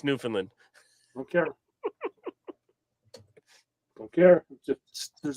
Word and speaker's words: Newfoundland: There's the O and the O and the first D are silent. Hey, Doug, I'm from Boston. It's where America started. So I don't care. It's Newfoundland.